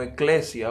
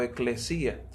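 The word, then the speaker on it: ἐκκλησία: Bueno, digamos que la iglesia en sí misma es en su esencia, es una palabra que viene del griego, que viene pronunciándose como eclesia o eclesía.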